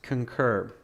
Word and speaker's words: concur: Yeah, it's not conquer, it's concur.